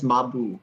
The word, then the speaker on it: Mabu: So his name is Mabu, and the reason it's not Mab is because of the phonetics of how they pronounce the characters. So at first I was like, "Oh, this is Mab," and they're like, "No, it's Mabu." It's almost like saying, like my boy, this is Yeah.